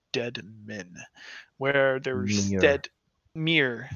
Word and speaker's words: Mere: Mere, sorry, not Mire, Mere of Dead Men.